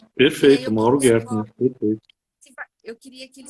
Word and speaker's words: Gertner: Hoje, o nosso parceiro é o Silas, mas que é o Mauro Gettner, né? Pronunciei certo, Mauro? E aí Perfeito, Mauro Gertner.